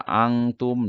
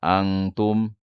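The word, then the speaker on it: أنتم: Nah ini Pak, bacanya begini ya, di huruf N tapi ditahan. Nah, kalau seandainya dibacanya, misalkan dibaca angtum, nah itu salah, itu bunyi huruf ihfa ihfa wusto atau ihfa ausat ya.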